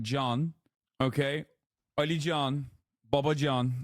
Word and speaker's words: Can: I know John. In Turkey, we put John after every fucking name. Okay? Like pretty much every goddamn name. Or John in and of itself. C-A-N.